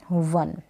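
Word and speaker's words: one: देखिए इस तरीके से वन में हम कभी ओ को ओ नहीं पढ़ते हैं वो पढ़ने हैं वन चलिए नेक्स्ट देखें पी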